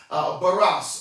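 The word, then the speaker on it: βάρος: The word burden, if you run the etymological research on it, comes from the word that is pronounced baros or barosity.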